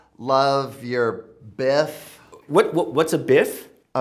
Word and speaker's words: BIFF: What's a biff? Oh, it's like BFF, but spoken out loud, it's pronounced biff.